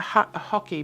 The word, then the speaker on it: hake: It's called hockey. I've been pronouncing it wrong, apparently. I've been saying hake or hake. I've learned that it's called a hockey brush, just like hockey, the game we play.